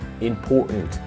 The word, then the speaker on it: important: Listen, when you pronounce, you say import, and then like the TA is mute, right?